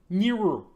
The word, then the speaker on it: Nibiru: It's Nibiru. Yes, that's how you say it. Nibiru. Sounds like that sound that cars make when they drive by you, like Yes.